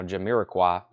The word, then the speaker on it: Jamiroquai: okay first two auctions we have test by pronouncing Jamiroquai I got them I know how to say that now Jamiroquai uh Talking Heads Wild Wild Life first auction